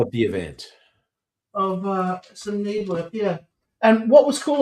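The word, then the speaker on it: Knebworth: Can you pronounce that place? Nebworth.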